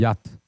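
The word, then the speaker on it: yacht: 그래서 발음이 우리가 그때 요트 해서 지금 요트가 된 거고 원래는 야트입니다. 야트.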